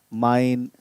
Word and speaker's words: mein: And the answer would be, mein Name ist Wilhelm. Mein Name. So it's mine. In English, we pronounce it like this is mine. Same pronunciation, but the way of writing is different.